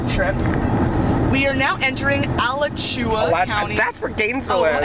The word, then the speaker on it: Alachua: We are now entering Alachua County. That's where Gainesville is. How is that pronounced correctly? Alachua. Oh, it's Alachua? Alachua. Alachua? I don't know. Oh, it's an Indian word.